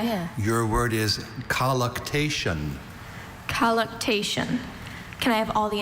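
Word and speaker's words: colluctation: Collation. Are there any alternate pronunciations?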